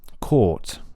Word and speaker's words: court: And for the word court, there are two main differences. So first one is that the vowel is longer. Court, yeah, much longer than cot. So cot is short, court is long. Cot, court. Now, the second thing, the tongue for court is higher than the tongue position for cot.